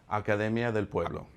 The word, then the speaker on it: Academia del Pueblo: And let's say the school because I've been trying to pronounce it. I got you. It is Academia del Pueblo.